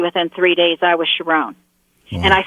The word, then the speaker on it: Sharon: vibrated and literally within three days i was sharone and i said thank you for correcting your